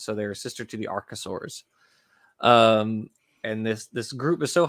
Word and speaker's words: archosaurs: are the snakes and lizards, and then the archosaurs, which, Colton, yes, you did pronounce it correctly.